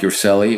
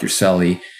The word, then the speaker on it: Urselli: name which is yourself which is spelled m-a-r-c uh no k and then you are like robert s like sam e-l-l-i so it's your sally on instagram on facebook